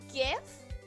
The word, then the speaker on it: GIF: celebrate her pronunciation of GIF what GIF GIF imagine if gibberish had a j instead of a g and say it that way to say it correctly no gibberish sounds awful